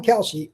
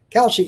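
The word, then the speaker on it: Kalshi: is you want to talk about, there's an opportunity on Kouchy, America's number one prediction market platform that you can trade predictions in a live market.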